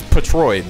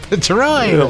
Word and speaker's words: Patroid: Bro, say his name correctly. This is Patroid, bro. Patroid. Like a patrol.